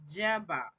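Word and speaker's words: Jabbok: So it's pronounced Jabok.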